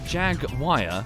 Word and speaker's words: Jaguar: Americans pronounce it Jaguar for some reason.